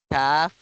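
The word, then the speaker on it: ك: ko ka ibig sabihin pinagkaiba nila ito po ay makapal bigkasin ko qof kaf kaf qof kaf malina po yan ito ay manipis kaf kaf kaf ito makapal kof qof qof naintindihan nawa ay naintindihan po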